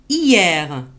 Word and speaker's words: Hier: Hier. Vous avez vu ici le H, on ne l'a pas prononcé.